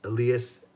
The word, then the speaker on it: Elias: him that mmm and he says alias Peterson Elias Peterson but then we say Patterson cuz in Sweden it's